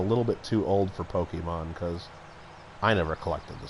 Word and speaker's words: Pokémon: too or Pokemon or p is it Pokemon it's Pokemon yeah I not Pokey man they're probably doing okay